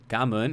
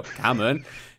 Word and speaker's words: Cảm ơn: They're like, "Cảm ơn," and I'll be like, "Cảm ơn," and they're like, "No, it's Cảm ơn." And I'm like, "Yeah, Cảm ơn," and they're like, "No, Cảm ơn."